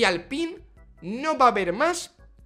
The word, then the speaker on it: Alpine: Alpine, Alpine, Alpine, Alpine, según ellos. Han hecho un vídeo hablando de la pronunciación.